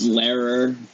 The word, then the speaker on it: Lehrer: friend of mine lehrer is that how you pronounce your last name because i i feel like i've been pronouncing it wrong for like ages now it's just like it's later but you can say